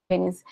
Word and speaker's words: Denis: Porque a gente está passando por um período muito difícil, né, Denis? É Denis que fala, né? Sim, é Denis.